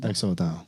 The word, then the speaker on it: Xothal: Xothal, yeah. Xothal.